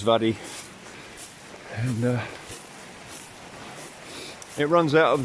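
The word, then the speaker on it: Mhadaidh: It's spelled M-H-A-D-A-I-T-H, and so I believe it's Vaddy, and it runs out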